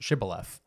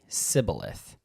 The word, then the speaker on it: Shibboleth: I believe it's pronounced Shibboleth.